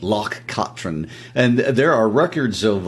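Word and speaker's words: Loch Katrine: like to point out that pronunciation was taught to us by our good friends Hamish and Nancy in Scotts you were mispronouncing it for a while they they corrected it so that Locke Katrin and there are records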